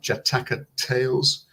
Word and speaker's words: Jataka: um 20 J jataka jataka Tales I always mispronounce it and say Jakarta Tales but it's jataka tales and it's a sort